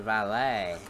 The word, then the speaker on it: valet: is valet that's a valet you got it make another selection and you know the t is silent in that one too by the way it's